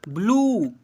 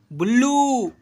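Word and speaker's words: blue: बड़ी ऊ से बी you sorry B एल यू ई ब्लू ब्लू थोड़ा ज्यादा साउंड करेंगे हिज करके।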